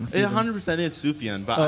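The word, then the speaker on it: Sufjan: It 100% is Sufian.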